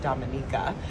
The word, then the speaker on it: Dominica: Yes, everyone's been debating is it Dominica or Dominica, but it is actually pronounced Dominica.